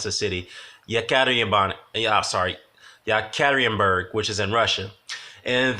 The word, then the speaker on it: Yekaterinburg: To be honest, I didn't like the previous fight with Sergey had in how do you pronounce the city? Yekaterinburg, which is in Russia.